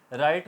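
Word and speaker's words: write: W silent हो गया राइट को हम डब्लू आर आई टी लिखेंगे राइट राइट नहीं कहेंगे डब्लू साइलेंट रहा और ने आवाज की इसी तरह रोट डब्लू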